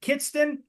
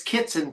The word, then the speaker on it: Kitson: last name pronounced correctly is it Kiton no it's kitson k i TS o